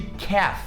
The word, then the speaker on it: calf: A mesma pronúncia de calf, é a mesma lógica, half e calf.